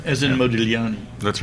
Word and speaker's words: Modigliani: The G is silent, right? That's right. As in yeah. Modigliani.